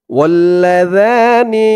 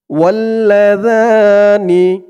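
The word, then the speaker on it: وَاللَّذَانِ: আর জালের উচ্চারণটা একদম নরম পাতলা করতে হবে, জিহ্বার মাথা ওপরের দাঁতের মাথার সাথে লাগবে জালের উচ্চারণটা করার সময়।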